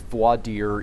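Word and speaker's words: voir dire: And um you know Texans have this annoying habit of mispronouncing this. You know it is voadier. It is French.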